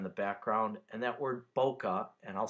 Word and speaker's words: bokeh: going on in the background and that word boca and i'll spell it for you it's b o k e